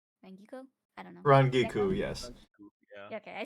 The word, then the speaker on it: Rangiku: And then I will be playing Ranguku. Rangiku? I don't know. Rangiku, yes.